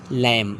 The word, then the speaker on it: lamb: Example B ओ एम B Baum L ए एम बी लैंप नॉट लैंप लैंप B silent टम com thumb etc so here B silent करना है।